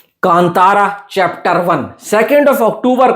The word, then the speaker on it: Kantara: हमें समझाया कि भाई ये कांटारा नहीं है। ये कांतारा है। इसको इस तरीके से प्रोनाउंस करना है। हिंदी बेल्ट में बहुत से लोग गलतियां कर रहे देखो कसूर हमारा भी नहीं है। अगर मैं उसको पढूं तो कांटारा ही लगता है। टी को तो मैं टी की तरह प्रोनाउंस करूंगा ही करूंगा। पर बाद में पता लगा कि वो कांटारा ना होकर कांतारा है।